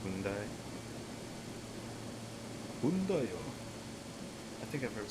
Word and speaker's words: Hyundai: Some people say Hyundai, but that's just clearly wrong. So it's just Hyundai.